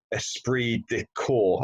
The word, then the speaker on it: esprit de corps: great culture and and use particularly the term esprit de corps have I pronounced that correctly absolutely yeah you taught that